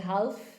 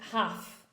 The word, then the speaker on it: half: And I said, oh, because the L is silent in, in half.